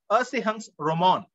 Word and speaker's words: Erzählungsroman: Erzählungsroman, that's how it is pronounced.